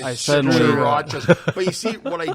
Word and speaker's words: Tsarouchas: It's Tsarouchas. Nobody can. Tsarouchas. pronounce Surukas.